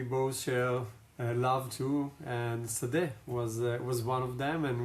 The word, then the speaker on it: Sade: offline about your name Sadeh because I asked you, how do you pronounce your last name? I thought it was Sade, and you said to me, no, it's pronounced Sadeh.